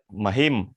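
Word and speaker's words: महीम्: Махим, там ударение, видите, на «и».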